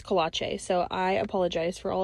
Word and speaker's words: Kolache: I've always been saying Kolochi, and she told me it's Kolache.